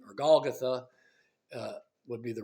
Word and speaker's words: Golgotha: The meaning of the name, or Golgotha, would be the right way to pronounce it.